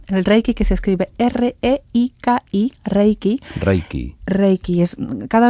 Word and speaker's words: reiki: poco luego está el reiki el reiki que se escribe r e i k i reiki reiki reiki es cada vez más conocido